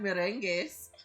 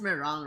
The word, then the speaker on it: meringue: We call it merengues. Merengue. It's freaking funny because I'm pretty sure that it's just meringue, right? 100%. But like, because Filipinos pronounce it as it's spelled, right?